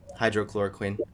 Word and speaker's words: hydroxychloroquine: Yeah, hydrochloroquine.